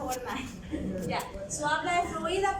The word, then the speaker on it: Wernicke: Sí, se pronuncia Wernicke.